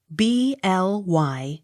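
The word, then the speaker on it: Blyth: u n t blunt b l y t h bly t h not sounded b o u r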